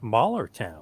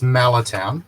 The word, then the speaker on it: Mallertown: But before we get into that, what are you up to and what is this Mahler town? What's going on? Am I pronouncing it correctly? Not quite, it's Malatown, Oh, Mahler but town.